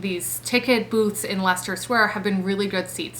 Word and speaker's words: Leicester Square: it at the bottom because it's not spelled like Leicester but Leicester Square the morning of or